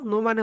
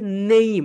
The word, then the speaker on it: name: নো মানে কি বলতো, সবাই একটু লিখে রাখো, নো মানে হচ্ছে জানা। নো মানে কি বলতো মাই ডিয়ার সোলজার্স, নো মানে হচ্ছে জানা। এটাকে আমরা যেটা বলি নেম বলি, কিন্তু রাইট প্রোনাউন্সিয়েশন হচ্ছে নেইম।